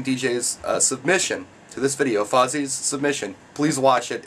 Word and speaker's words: Fozzie: But unfortunately, Vossi has been disqualified for being named after a Muppet, because his name is actually pronounced Fozzie.